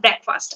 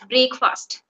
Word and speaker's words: breakfast: also you uh said breakfast I take my breakfast many people I have heard they use break fast they say it break and it is breakfast yeah so used you